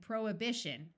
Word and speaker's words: prohibition: long Messiah and du there are some other words where H is silent in the middle such as vehement vehicle and prohibition note that the root prohibit has the H pronounced but once you add the shun the H sound disappears there are some names